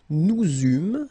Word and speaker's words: eûmes: Then nous eûmes, so you can make this little link between the two. Final S not pronounced.